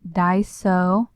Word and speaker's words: Daiso: It's Daiso.